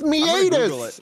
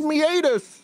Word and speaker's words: meatus: __ ] is the urinary meus man it's meatus it's pronounced meatus what is a urinary meatus oh it's a